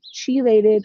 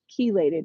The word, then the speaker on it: chelated: One of the biggest things with iron is using, it's called an EDDHA, or a chelated or chelated iron. I've heard it pronounced both ways.